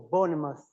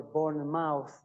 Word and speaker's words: Bournemouth: Uh it's Portsmouth or Bournemouth. The suffix is mouth. So why cannot we say port's mouth or born mouth? Because there is a historical issue called the great vowel shift.